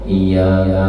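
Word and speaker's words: إِيَّاكَ: ihdinas ada tapi kita baca ihdinasirat nah atau iyaka na'budu WA iyaka nastain kada membacanya iyaka na'budu wa iyaka nasta ditekan sedikit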